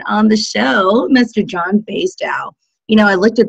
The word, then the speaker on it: Basedow: have it perfect um basically it's baseball and Dow Chemical put them together Bas out B love